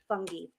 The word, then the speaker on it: fungi: That is a real fungi. Um he's a fun guy. It's actually pronounced fungy.